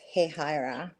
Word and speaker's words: Hahira: It's spelled Hahira. Wow. but it's pronounced Hehaira to Wow.